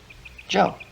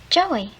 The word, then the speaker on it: Joe: you spell my name jay o e joe joey no no no not joey joe the e-silence the e is silent right see the way we